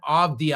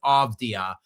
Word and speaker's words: Avdija: Deni uh Avdija, I always mispronounce that guy's name. I don't know if the D or the V comes first. I think it's Avdija. Um terrific season for him.